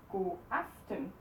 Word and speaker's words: godaften: Godaften.